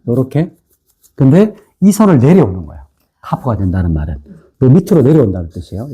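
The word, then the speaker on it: כף: 카프.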